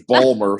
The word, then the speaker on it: Baltimore: radio in baltimore yes baltimore no you're not supposed to pronounce the t baltimore there's well there's a couple of different ways you can pronounce it there's balmer some people say baltimore